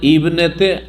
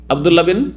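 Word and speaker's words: ابن: আব্দুল্লাহ বিন আব্বাস বলছি, আব্দুল্লাহ ইবিন আব্বাস না, আব্দুল্লাহ বিন আব্বাস। হ্যাঁ, আব্দুল্লাহ বিন অমুক, হ্যাঁ, মোহাম্মদ বিন অমুক বলছেন না, বিন।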